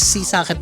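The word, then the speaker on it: Sisaket: Sabi nila guys itong what sea socket or tawag din nila is sea socket. Parang ang pagkaka-pronounce daw nila is sea socket guys. Hindi daw what secket.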